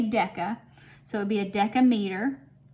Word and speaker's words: deca: we can say that's the prefix deca that's how you say it you say deca so it'd be a